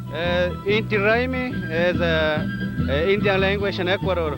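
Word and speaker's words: Inti Raymi: How do you pronounce that name? Inti Raimi is Indian language in Ecuador, which means Harvest Festival.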